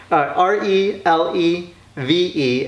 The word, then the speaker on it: Relevé: Filipino owned business here that's why it's phonetically spelled on the doorway to re le ve and there's an accent mark over that last e as French it means